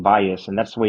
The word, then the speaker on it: Valles: and and tell everyone how to actually pronounce your name well I pronounce it Vias I guess if I mean if you said the name in English or Americanized it it would be valz the only person that says it correctly is the gentleman um from